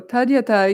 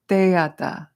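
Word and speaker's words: tadyatha: Teyata. Whenever there's a da after an A, it makes an A sound.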